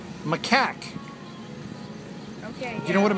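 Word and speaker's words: macaque: says M Mau feces study makaku I can't pronounce it what's a Mau it's m a c a q u e maak okay you know what a m is no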